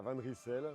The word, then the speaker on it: Van Rysel: Então a gente fala Van Rysel, mas não é uma palavra francesa, é uma palavra em língua flamande.